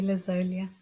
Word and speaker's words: Lazolia: By the way, how do you how do you pronounce Yes, you said it correctly, Lazia.